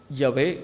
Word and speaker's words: Yahvé: Los teólogos le han añadido algunas letras y en diferentes tiempos le han dado cierta pronunciación, como Yahvé o Yahweh o Yab, Hab o Jehová.